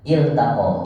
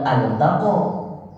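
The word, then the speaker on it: التقى: bacanya ini sama-sama begini Bacanya apa altaqo atautaq Il iltaqo ini bukan kata benda ini kata kerja yang artinya berjumpa jadi makanya iltaqo iltaqo ah ini hati-hati di sini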